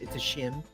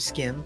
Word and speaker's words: SCHiM: It's a SCHiM or a skim, depending on where you are.